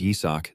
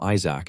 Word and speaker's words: Isaac: Even though his name is Yisak, these guys always pronounce it wrong and call him Isaac instead.